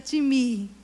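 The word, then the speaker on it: τιμή: que é honra no original é a palavra time não sei pronunciar direito é tm é metais me nem a time no original se pronuncia time e significa valorização desvalorização de apreciação e estima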